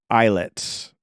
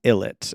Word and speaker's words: ILLIT: Tik Tock so yeah eyet magnetic not illit as it's spelled out apparently the meaning behind